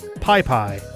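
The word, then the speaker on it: Pis Pis: Anyway, that river is in Nicaragua, and Peace Peace is pronounced... Oh, Pai Pai. Okay, so the S's are basically silent.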